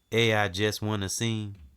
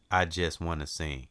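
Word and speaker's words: Aijuswanaseing: I just wanna sing.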